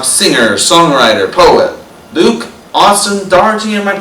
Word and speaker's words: Daugherty: the night talk singer songwriter poet Luke Austin Dy am I pronouncing your last name right yeah you got